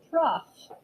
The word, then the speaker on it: trough: the troughs trough everybody say it out loud trough trough is spelled like this t r o u g